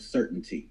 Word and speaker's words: CRTNT: just a quick correction the crtnt is actually pronounced just like the word certainty so basically certainty being